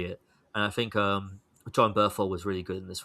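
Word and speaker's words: Bernthal: Give John Burchell his due. I think I may have said his name wrong there, but still, um, John Berthel. That's it.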